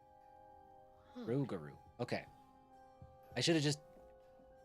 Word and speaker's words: Rougarou: Rougarou. Huh. Rogaru.